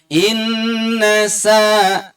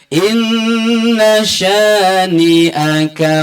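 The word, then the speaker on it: إِنَّ شَانِئَكَ: Inna ini sya, bukan sa. Masih banyak yang bacanya inna sa pakai huruf sin. Ini juga keliru. Merubah bunyi huruf, artinya hurufnya juga berubah. Bukan inna sa, tetapi inna sya, shin, syih. Kalau ada ayam masuk diusir tuh hush atau syih, itu shin atau sya.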